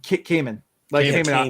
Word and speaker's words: Camon: Is it Camon? Cayman, like the Cayman Islands.